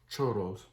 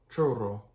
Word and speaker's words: churro: In this one, we have churros. Churro. I think that's how you say it. Churro. You know, gotta roll the R's.